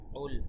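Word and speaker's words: قُل: তাই কফের জায়গায় কাফ কোনো ক্রমেই বলা যাবে না। কুল গলার ভেতর থেকে খুব স্পষ্টভাবে বলতে হবে কুল কুল কুল আউযু।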